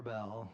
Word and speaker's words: Arbel: Do you have time Is it Arbel or Arbell? Arbell. Arbell. Sorry, I was mispronouncing your name earlier.